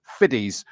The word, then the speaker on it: Fiddies: because I asked him think of plural of 50 Cent all right so it's Louis fiddies and 88 Chas Royals